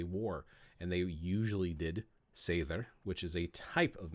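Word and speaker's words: seiðr: And the reason I make that distinction, Ursula Dronka translates seither, because it's not a D, it's an F, which is like it pronounces like a TH. But seither, we see that there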